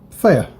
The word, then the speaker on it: Theyr: next one player elder who is fair that's always pronounced th ey you see I'm favorite